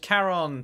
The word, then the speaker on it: Charon: the door is Caron it is pronounced Karen today I learned Karen